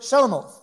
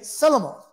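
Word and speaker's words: Shibboleth: if they could say the word Shelemoth. And they would say Shelemoth. They couldn't pronounce the sh sound because it would tell where they were from, even though they looked alike.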